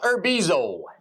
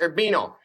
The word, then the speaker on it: Urbino: Now, the first one here is called the Venus of Urbizo. Or I'm sorry, that's Urbino.